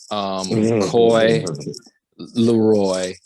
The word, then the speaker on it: Coi Leray: Benzino's daughter, Coi Leray.